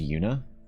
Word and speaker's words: Yuna: my dog's name is Yuna which is a Japanese or a Korean name but I pronounce it the Japanese way with a short u so it's Yuna not Yuna even though I know